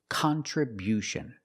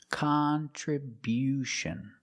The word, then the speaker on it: contribution: We changed the stress to the first and third syllable. Contribution. Contribution. The first and third syllable. Stress the first and third syllable. Contribution. And because we stress the first syllable, the sound changes. It's not kun, it's not the short sound, it's con. Con. We use the short ah sound like hot and stop.